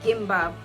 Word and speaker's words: gimbap: on my list is gimbap and i might be mistaken but i have seen in quite a few instances that g is pronounced as k in korean this is not an